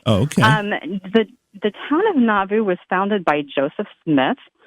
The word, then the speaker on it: Nauvoo: And, you helped me out, too, because I was going to have to ask you how to pronounce the town, and you said it's Nauvoo.